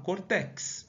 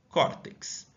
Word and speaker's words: córtex: grafia ir essa palavra Eu não falo Cortex eu falo córtex Então dessa forma assento